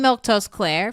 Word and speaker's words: Milquetoast Claire: I'm Milquetoast Claire, for those of you who are wondering, how the heck do you pronounce her name?